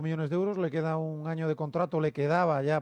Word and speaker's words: Gnagnon: es la del año un año en que parece que se pronuncia así correctamente el futbolista francés internacional